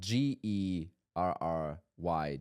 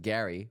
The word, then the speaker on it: Gerry: Jack, meaning the G pronounced as a J. I had a funny call yesterday, uh, with a gentleman called Jerry. But, um, you know, spelled G E R R Y.